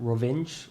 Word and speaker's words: Rovinj: We're in a very small city in Croatia called Rovinj, or Rovinjo, depending on how you want to pronounce it.